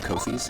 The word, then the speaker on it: Ko-fi: They all have Ko-fis, and Ko-fi rhymes with no fee.